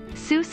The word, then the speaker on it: Seuss: Seuss is his mother's maiden name, and their family pronounces it as Seuss, rhyming with voice.